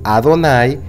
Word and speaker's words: Adonai: Señor las vocales de adonay se agregaron a las cuatro letras del nombre sagrado de nuestro padre celestial para recordar a los lectores que este nombre se debe de pronunciar adonay es decir este nombre